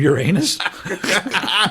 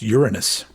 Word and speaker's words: Uranus: Is he from Uranus? Hey! Which I think I've learned that's the wrong way to say the name of that planet. I think it's pronounced Uranus.